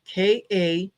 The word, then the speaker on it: Kamala: And it said big letters Kamala, and then underneath that it had KA-MA-LA. So sounding it out, Kamala, and underneath that it said, if it's too hard to pronounce, just say Madam President.